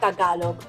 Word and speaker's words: Tagalog: The sounds are broken up like this. Ta-ga-log. You put the stress on the ta, belt out a ga, and then end with a log.